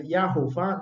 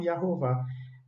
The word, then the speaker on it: Yehováh: dizer não é que essa vogalzinha aqui tem um segredo ela volatili ela ela se esvai ela se modifica Como assim quer dizer que a pronúncia seria i rouar não não fica assim não E rovar é porque esse azinho aqui se torna um e esses dois esse tracinho aqui do a sai esse shivá composto sai e fica